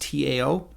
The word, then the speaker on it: Tao: And by the way, Tao, which is pronounced Tao, means the way.